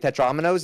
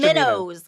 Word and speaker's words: Tetrominos: tetraminnows, like minnows, like those little fish.